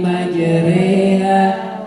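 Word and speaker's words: مجريها: Berikutnya wa qala wakabu fiha bismillahi majriha wa mursaha. Bacaan apa itu? Yaitu bacaan imalah, yaitu apa? Mereng.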